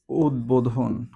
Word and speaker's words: উদ্বোধন: দ এর সাথে যুক্ত হলে কি হবে? ব এর উচ্চারণটা কি? ভল থাকবে। অর্থাৎ বয়ের উচ্চারণটা হবে। এক্ষেত্রে আমাদের উচ্চারণটা কেমন হবে? উদ বধন। উদ্বোধন। ওকে?